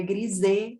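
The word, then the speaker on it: Grisez: foi publicado por German Grises. Na verdade, o nome dele é francês, seria Griset, com o Z mudo, mas eu acho tão bonitinho, Grises, então a minha pronúncia brasileira eu não abro mão dela.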